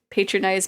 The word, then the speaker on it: patronize: I suppose you could patronize patronizingly yeah a little bit the C in that word is pronounced as an S so sus similarly Fran